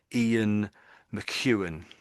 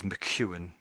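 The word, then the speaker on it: Ian McEwan: It's a It sounds very very much like a Scottish name and I would pronounce it as Ian Mchuan. So this bit here is Mchuan. Mchuan.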